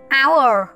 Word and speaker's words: hour: Các em sẽ thấy chữ H ở trong từ hour cô đã tô màu đỏ, có nghĩa là chúng ta đây là điểm nhận dạng. Vậy thì chữ H lúc này chúng ta không đọc, gọi là H câm.